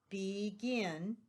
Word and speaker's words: begin: And you hear that long E, begin.